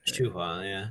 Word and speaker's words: Shuhua: for how do I say her name is Shuhua, right? Shuhua, yeah, Shuhua.